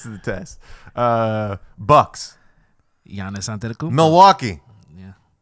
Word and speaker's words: Giannis: it's and it's pronounced Giannis what the is up with that Real G's he's big he's big too yeah is that technically a silent G I would think so